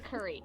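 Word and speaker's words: Kuri: Curry. There's a person named Curry. That's my brother. Her brother's name literally is Curry. It's K-U-I-R. It's R-I. K-U-R-I.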